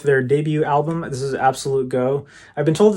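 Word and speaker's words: Absolutego: This is Absolute Go. I've been told it's pronounced Absolute Ego, but I kind of like saying Absolute Go better.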